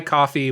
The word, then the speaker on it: Ko-fi: Ko-fi, coffee, whatever.